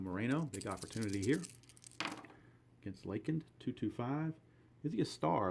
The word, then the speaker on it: Lakind: It's spelled L-A-K-I-N-D, but it's pronounced Lakind.